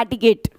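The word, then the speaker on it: etiquette: इसकी actual pronunciation होती है एटिकेट।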